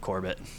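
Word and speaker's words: Corbett's: And uh we also have the kings and queens of Corbett.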